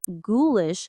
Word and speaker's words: ghoulish: And ghoulish starts with a hard g, not a j sound.